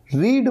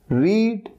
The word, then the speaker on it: read: read, रीड मतलब पढ़ना, इसकी तीन फॉर्म्स हैं रीड रेड रेड।